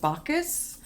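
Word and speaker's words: Bacchus: this is the god I think it's pronounced bakus who was kind of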